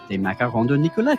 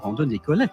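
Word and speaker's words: Nicollet: Nichollet. No. Say it all at once. Nichollet.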